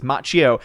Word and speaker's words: Macchio: Now, some people have been making fun of me for saying Macchio instead of it's Macchio. It's Macchio. You're mispronouncing it.